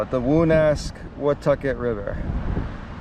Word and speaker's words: Woonasquatucket: the longest time, but this is how you spell it. The Woonasquatucket River. Woonasquatucket River.